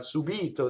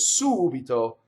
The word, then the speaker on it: subito: Or it can be the anti-penultimate, like subito, which means suddenly, right? It's not subito, that would be the normal stress, but that word is subito.